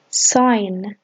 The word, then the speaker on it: sign: spacecraft spacecraft flight flight sign sign the G is silent sign train train air